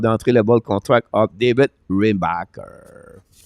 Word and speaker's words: Reinbacher: Or Reinbacher, depends how you want to call him. Yeah, I was watching the play-by-play of the rookie camp, and the announcer was pronouncing it Reinbacher, with a little in there. So, yeah. So I think I'll stick just with the Reinbacher. Right. I don't have enough phlegm. I already have enough phlegm